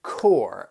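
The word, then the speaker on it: corps: core and core and I'm sure that one word you're thinking what wait a second that sounds nothing like the way it's spelled well the reason reason for that it's it's like you have that that pns you don't even hear it the other thing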